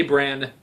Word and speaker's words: Bran: They say Bran.